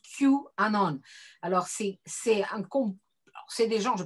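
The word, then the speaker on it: QAnon: presse un peu française, le fameux truc qui s'écrit avec un Q majuscule et puis Anon et qu'on prononce Q Anon.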